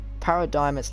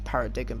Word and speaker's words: Paradigm: the seven narrative quests rocket launch part four paradigms landed on the island retrieved the black box to check her message obviously i know i pronounced her name as parrot digging before which was wrong but obviously you do